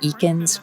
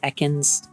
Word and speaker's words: Ekans: announcer pronounces his name he pronounces it eakins when pretty much everywhere else always says ekans always sounds like a